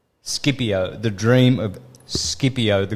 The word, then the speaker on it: Scipio: dream of Scipio or Scipio as English speak English people um pronounce it but I call it Scipio because I'm Italian and that's how his name is it's Scipio the dream of Scipio